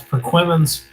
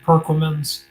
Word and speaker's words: Perquimans: Have a person pronounce Perquimans. Most of the time, they're gonna pronounce it Perquimans and Manamus.